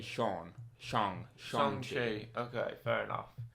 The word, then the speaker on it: Shang-Chi: The whole scene in the film where he goes, oh no, it's Sean, like Sean, because his name in the UK or in America where it's Sean.